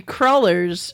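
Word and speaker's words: crullers: i to judge christ how do you say them cruelers crawlers cruelers they're crawlers cruelers they're crawlers according to the dictionary crawlers is correct crawlers you're from new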